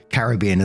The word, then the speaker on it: Caribbean: just want to say Caribbean is how we pronounce it in the UK I can see some